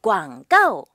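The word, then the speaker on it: 广告: 짜오핀 광가오 전봇대 이렇게 붙어져 있는 거 그쵸?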